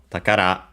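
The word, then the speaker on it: 宝: in this case from takara treasure accented on the last syllable on its own.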